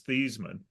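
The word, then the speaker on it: Theismann: fourth quarter um Joe thyman uh who changed the pronunciation of his last name to rhyme with Heisman it it technically his his real pronunciation of his name was thean when we went to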